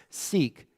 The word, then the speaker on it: Sikh: first teacher of the sick Faith oftentimes it's pronounced seek Faith gurun nanic taught that